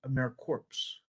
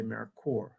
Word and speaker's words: AmeriCorps: we pronounce americor so we do not say americor americ corpse we say americor so the uh um